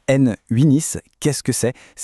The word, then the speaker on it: n8n: Alors concrètement N Winis qui se prononce N Winis, qu'est-ce que c'est ?